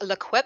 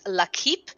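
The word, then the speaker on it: L'Équipe: wrong or i have it's not liquid it's la keep so uh by new zealand accent where i'm used to staying at lequip and i've totally butchered that one so i will go with la keep uh i do speak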